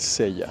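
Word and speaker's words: cella: se les llama el Sella sí señores así como Sella el de Caballeros del Zodiaco hermano el mismo Sella pero se escribe distinto c e l l a y venían aquí a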